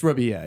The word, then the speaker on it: Rebillet: Well, it's Rebillet is how you say his last name.